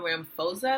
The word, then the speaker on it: Ramaphosa: If you did not know, South Africa just recently got a new president, Cecil Ramaphosa, I believe is how you pronounce his name.